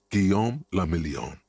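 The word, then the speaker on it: Guillaume Le Million: Giam Lamelon. If it doesn't rhyme, you're not pronouncing it right.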